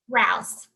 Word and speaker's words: Rouse: how do you say your last name raus raus wonderful thank you for being here with